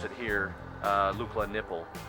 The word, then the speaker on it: Nepal: Ladies and gentlemen, welcome to Lukla, Nepal, or as they pronounce it here, Lukla Nipple. It's spelled N-E-P-A-L, so that's how the locals pronounce this country.